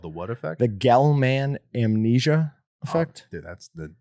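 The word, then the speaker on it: Gell-Mann: no nobody nobody sorry that's gal man i think it's spelled gel man but it's gelman amnesia effect um that's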